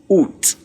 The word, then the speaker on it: août: And that is pronounced as août. Août.